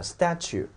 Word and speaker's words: statue: 稍微注意一下，叫 statue 啊，这个叫 statute，这个